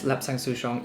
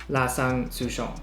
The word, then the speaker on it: Lapsang Souchong: The name Lapsang Souchong is actually derived from the local Fujianese dialect for this tea, Lapsang Souchong.